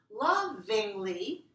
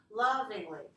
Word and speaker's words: lovingly: Lovingly, notice that has one more syllable, right? We have one, two, three. So this is a three-one word. I have to have all the three syllables, and you need to say this part too.